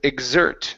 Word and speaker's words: exert: Instead of expert, the word is exert. The stress is on the end. Okay. It is they also exert force. They also exert force. Uh-huh. Give me a Z sound here.